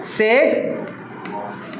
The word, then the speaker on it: sec: है टैन, टैन के नीचे रहेगा कॉट, SEC सेक है। प्रोनाउंसिएशन में गलती मत कर देना, यहाँ पे मेरा बात समझ में आ रहा है? सेक, और यहाँ पे आ जाएगा कॉसेक, ठीक है।